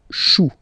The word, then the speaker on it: choux: Then, un chou, okay, remember, when you combine this C and H, you get the sound sh. Chou, un chou, pluriel, des choux. Okay?